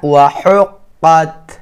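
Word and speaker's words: وَحُقَّتْ: আবার ইযাস সামাউন শাক্কাত ওয়া আযিনাত লিরাব্বিহা ওয়া হুক্কাত ওয়া হুক্কাত। হা হচ্ছে হলকের মধ্যখান হইতে হা উচ্চারণ করবেন।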